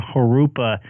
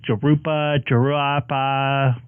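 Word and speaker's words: Jurupa: Yeah, we have a bunch of cities in my area that the pronunciation's weird, and we actually have a street named Harupa and nobody can get it right. It's always Jarupa, whatever they call it.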